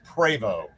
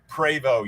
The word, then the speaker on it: Prevost: not a host because the t on the end you don't pronounce it's a french canadian name pro prevos i think it's pronounced prevost um anyway we're thinking